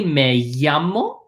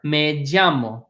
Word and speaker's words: llamo: As a reminder, this double L here, all double L's in Spanish can be pronounced either as y, or j, like a JY combination.